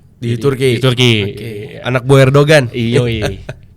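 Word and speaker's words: Erdoğan: Anak Bu Erdogan. Iya. Erdogan BTW bacanya. Erdogan.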